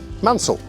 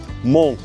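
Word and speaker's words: Mansle: well, it's spelt M-A-N-S-L-E, Mansell. That's not how you pronounce it. Mon. Good old French.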